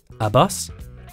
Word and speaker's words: ABUS: german accessory brand but how do you pronounce it a bus a bus a bus yes it is actually abus if there are any